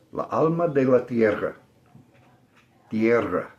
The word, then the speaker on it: Tierra: Tierra. I can't roll my R's most of the time. It's the only fault I have in Spanish pronunciation.